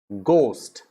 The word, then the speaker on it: ghost: ghost it is ghost ghost it's not ghoul it's not go it's not core it's ghost like goat goat ghost goat ghost then you